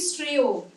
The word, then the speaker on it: শ্রেয়: শ্রেয় একটা যুক্তাক্ষর তো, তালব্যস্বয় রফলা, ঠিক আছে, এরকম কোন একটা শব্দ, প্রেরণা, এগুলো কিন্তু সবসময় একার উচ্চারণ হচ্ছে।